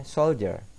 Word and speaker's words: soldier: mengatakannya sebagai shoulder ya tulisannya Soldier bacanya shoulder Oke Sama saja artinya